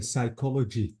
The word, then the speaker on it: psychology: like school psychology ahuh psychology exactly so uh the p is silent the Y is I I have to say psychology it's from Psych or